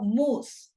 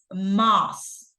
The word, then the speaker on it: most: Now, about the pronunciation of this word, it's no moose, it's moss with O.